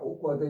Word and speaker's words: awkward: 오쿼드 요거 정말 아셔야 돼요. 오로 발음하시고 오쿼드.